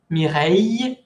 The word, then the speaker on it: Mireille: Mireille, aquí tiene una ILL que se pronuncia I, Mireille, ont un enfant, mon cousin Raphaël.